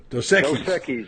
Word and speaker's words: Dos Equis: How do you say Dos Equis? Dos Equis, yeah.